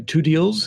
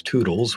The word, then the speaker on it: Two-Deals: Hi, my name is and uh my friends call me Todd Deals. And if they can't pronounce that right, it's Toodles, which I hate.